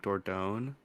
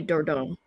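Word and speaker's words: Dordogne: oh I don't know is it like a soft G like door down oh it's French so it's probably door Dom door down oh it's French that's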